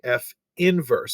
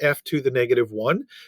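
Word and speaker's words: f⁻¹: that we've not seen that is not pronounced f to the negative one that denotes f inverse and that is how that is uh pronounced so what they're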